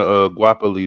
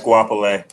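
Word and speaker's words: Goapele: an honorable mention to Guapoli though, the Closer song. That's one of my joints. Guapoli. I might not be pronouncing her name right, but Guapoli. GOA. You saying it right? It's Guapole. Guapole.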